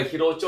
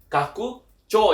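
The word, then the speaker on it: 拡張: Cara bacanya adalah bukan hirocho ya tapi kakucho yang artinya itu adalah perluasan atau ekspansi ya.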